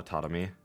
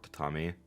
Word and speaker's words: tatami: She taps on the tatami. Or tatami. I've heard it pronounced both ways.